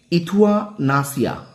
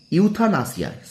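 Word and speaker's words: euthanasia: এটা শব্দ ইংরেজি শব্দ হলো ইথুয়ানাসিয়া। ইথুয়ানাসিয়া, ঠিক আছে, ইথুয়ানাসিয়া। ওকে, অর্থাৎ কৃপা হত্যা শব্দটির ইংরেজি প্রতিশব্দ হলো ইউথানাসিয়া। ইউথানাসিয়া, আমার উচ্চারণ প্রথমে ভুল হয়েছে।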